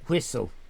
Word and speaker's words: Whistl: It's WHISTL. No E. Whistle. I'm trying to pronounce it without the E.